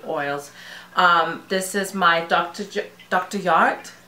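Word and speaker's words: Jart: Yart, because I know you don't pronounce the J as a J.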